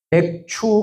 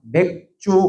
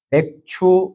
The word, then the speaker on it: 맥추: 하지만 이제 맥추 감사절 그래서 발음을 참 잘해야 됩니다. 맥추 감사 주일입니다. 맥주 감사 주일이 아니고 예 오해를 하시는 분이 있어요. 예. 아, 맥주 감사 주일이니까 맥주를 주시나? 예. 아닙니다. 예. 맥추 감사주일.